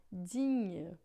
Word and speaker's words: digne: Em francês a gente não tem NH, a gente tem o GN que vai fazer esse som de nh, tá? Então, digne, né, que é digno, em francês a gente vai pronunciar digne, né?